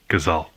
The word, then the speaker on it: casal: like a w, like a W sound after a vowel. For example, the word for couple. Casal.